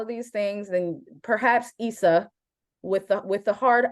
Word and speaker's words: Issa: the with the hard eye Issa with the hard eye is is probably where we need to to start and the audience let her know it uh innerwebs let her know it I was there I was in the audience was there Simeon were you in the crowd were you were you also I I I also screamed out Issa it it's Issa like how do you not